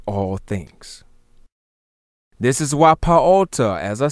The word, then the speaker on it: paota: This is why I said pata, properly paota, is called the creator of all things, because the atom creates all things. This is why paota, as I said, the